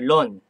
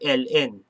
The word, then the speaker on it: ln: e that is your lon or l n sometimes you just pronounce it as ln but my math professor pronounce it as lon wonder m your log